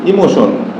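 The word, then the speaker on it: emotion: কি হয় station station তারপরে যদি আমরা লিখি ইমোশন এম এম ও টি আই ও এন ইমোশন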